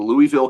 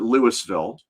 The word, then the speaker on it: Louisville: in Louisville, Kentucky, and the different ways people pronounce that name, even within the city, can be really fascinating. If you're a tourist, you call it Louisville. If you're a local, you probably call it Louisville.